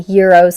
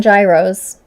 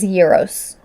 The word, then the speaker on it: gyros: And I have to say it properly, gyros. It's not gyros, as I grew up calling them. It is gyros.